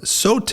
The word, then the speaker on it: Sote: mr scott yaakov he is the cto of sote and i pronounced that correctly yes you did okay great